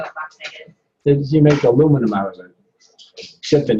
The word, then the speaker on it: aluminum: You make aluminum out of it. Except in England. In England, it's not aluminum. What is it in England? Aluminium. Yeah. We can say it in 4 syllables.